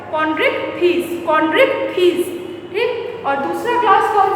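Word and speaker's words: Chondrichthyes: आप मेरे साथ बोलिएगा बिकॉज प्रोनाउंसिएशन इसका टफ है। कॉन्ड्रिक्थिस।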